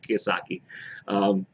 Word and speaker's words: Kiyosaki: I can't remember how to pronounce his Kiyosaki. That's how you say it. That's what it is. Kiyosaki.